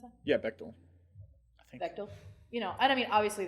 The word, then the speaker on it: Bechdel: Bechdel? Is that how you pronounce that? Yeah, Bechdel.